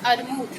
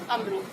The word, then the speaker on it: अमरूद: और दूसरा है अरमूद, यानी उच्चारण में गलत किया तो लिखेंगे भी गलत, और सही उच्चारण क्या है इसका? अमरूद।